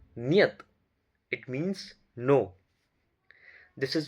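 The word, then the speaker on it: нет: This is Niyat. Na, ye, ta. Niyat.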